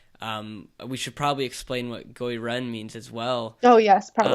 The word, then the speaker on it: Gui Ren: So yeah, what is Goi Ren? And so if anyone's wondering, it's spelled Gui space Ren, at least the English spelling.